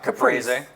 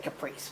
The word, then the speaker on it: caprese: And then a caprese Yeah, which we like. with balsamic Which he said it right, glaze. caprese, and I just said caprice, which is wrong. No, Caprese, no. caprese.